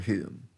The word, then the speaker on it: whom: You can pronounce hum or whom. No, it's whom, not hum.